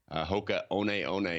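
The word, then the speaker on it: Hoka One One: all uggs and now it's this other brand hoka oneeone is how you pronounce it it's wild name but people love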